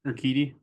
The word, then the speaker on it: Urquidy: How do you pronounce his name? Urquidy.